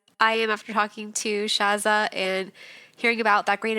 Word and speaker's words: Shatha: Well, awesome, Shaz. I'm saying your name wrong. Shatha.